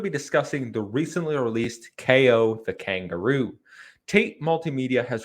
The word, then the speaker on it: Kao: role of ko and yes it is pronounced ko not cow the kangaroo he awakens